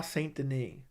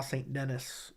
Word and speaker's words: Saint-Denis: slows down his speech when he says benois St Dene benois St yeah it's it kind of I don't want to trip over the words it's a mouthful and that's how you pronounce it by the way it's not benois St Dennis I know some people